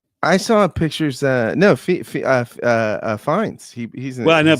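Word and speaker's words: Fiennes: Lawrence played by Ralph Fine Fine right Fines Fines Ralph Fines yeah I didn't know that's how you said that Fines Yep. Yep. That's how you say it.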